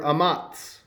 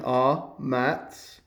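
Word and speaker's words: אָמַץ: The word amatz. And there's a pronunciation, amatz. Amatz.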